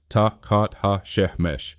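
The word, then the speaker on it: tachat hashemesh: Tahhat hashamesh pronounced tat ha she meaning under the sun.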